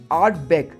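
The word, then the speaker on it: Ardbeg: एकदम प्रो की तरह प्रोनाउंस करने हैं आपने। पहला है आर्ट बेग।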